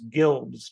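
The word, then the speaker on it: Gilbz: I think you say her name is Gilbs, G-I-L-B-Z.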